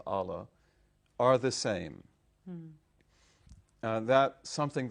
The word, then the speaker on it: Allah: And I said, "First of all, you learned that God and Allah, or Allah, but we pronounce it as Allah, are the same."